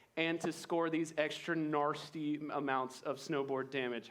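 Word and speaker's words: gnarsty: you can do a narsty trick Nar you can do a narsty trick that's spelled GN a r s t y NY NY trick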